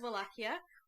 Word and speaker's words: Wallachia: Yes, Because you pronounce Wallachia several different ways now. Is it a V or is it a W? it's a V. Wallachia.